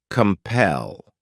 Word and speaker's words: compel: next verb is compel this word has two syllables and the stress is on that second syllable compel what it means is